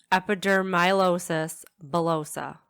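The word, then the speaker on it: epidermolysis bullosa: how to say it now yes so hopefully epidermilosis bullosa that's what it is which is the very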